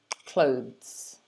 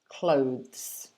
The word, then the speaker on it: clothes: a zed um also a lot of learners make the mistake of separating it into two syllables and saying something like clothes we don't do that it should be only one syllable and it should sound like this clothes clothes so the